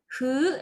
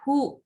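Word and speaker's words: ふ: Untuk yang Hu, nah ini cara bacanya bukan hu tetapi hu. Jadi ada sedikit apa ya, lebur gitu. Dibacanya seperti fu, tetapi caranya gini, seperti itu.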